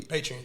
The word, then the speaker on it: Patreon: Is Patreon? Am I saying it correctly? Patreon, yeah.